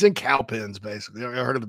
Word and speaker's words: Cowpens: It's in Cowpens, basically. I heard of the Battle of Cowpens. Oh, yeah. Broome High School. One of my college coaches is from Cowpens. It's Cowpens, not Cowpens.